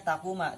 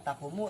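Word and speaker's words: تَقُومَ: Bacanya takuma, tidak takumu, tidak takumi, tidak takum ya.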